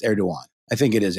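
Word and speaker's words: Erdoğan: I've heard it pronounced Erdogan. I think it is Erdogan. The G must be silent.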